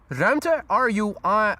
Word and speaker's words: ruimte: Ruimte, R-U-I-M-T-E. The U-I combination is pronounced ui. Ruimte is how you pronounce this word, means area.